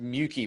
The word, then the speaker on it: Muecke: And it's pronounced Muecke, by the way.